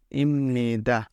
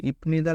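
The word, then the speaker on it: 입니다: সেটাকে আমরা পণ পড়ে ম পড়বো তাহলে এটার উচ্চারণ আমাদের হবে ইমনিদা ইমনিদা ইমনিদা কেন হইলো রুলস অনুযায়ী বিয়োপের পরে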